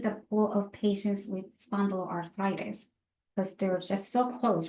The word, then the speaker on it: spondyloarthritis: Those with spondylitis arthritis, if I said it right, so it's the Spondyloarthritis.